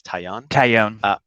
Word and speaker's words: Taillon: Taillon.